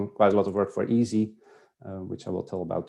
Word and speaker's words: EESSI: Uh we abbreviate that to easy pronounce it as easy.